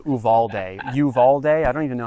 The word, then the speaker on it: Uvalde: Well, I mean, we made it American by pronouncing it like Texans, which is Uvaldi instead of Uvalde.